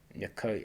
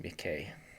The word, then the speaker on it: Mekoi: It's more retracted, more like a schwa sound after the dark K, so it's Mekoi and not Mekei. We can see that stress falls on the last syllable.